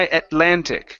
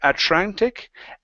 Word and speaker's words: Atlantic: very good let's try Atlantic okay so watch the T and the L here instead of atantic ATL Atlantic Ocean Atlantic Ocean there you